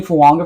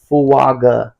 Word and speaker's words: Fuaga: Apparently, it's pronounced fuaga, which makes sense. That's how it's spelled.